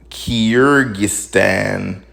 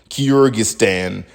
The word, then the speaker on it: Kyrgyzstan: This shit is spelled Kyrgyzstan, Kyrgyzstan. And number one, that's also difficult for your mouth to even move like that. Like, I don't care where you're from, that's just difficult to do.